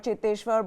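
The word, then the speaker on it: Cheteshwar: inclusive and i think cheteshwa pujara in an interview later on and even said that i prefer to be called chitteshwar but it seems like they can't pronounce my name so it's okay whatever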